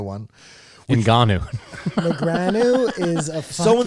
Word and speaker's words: Ngannou: To the chagrin, as the Nagano one. Ngannou.